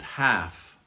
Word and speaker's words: half: Half. It's same with the plural, halves. We don't pronounce the L.